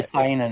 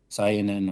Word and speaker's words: seinen: So like for younger boys, and then Seinen, or however you pronounce it, is for Seinen. Seinen, like Seinen, kind of like like Super like Saiyans? say like like Saiyan, Saiyan, yep. except with an N in it.